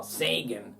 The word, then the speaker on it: Sagan: Quite cosmic because Carl Sagan, Carl Sagan, that's the American pronunciation of Sagan.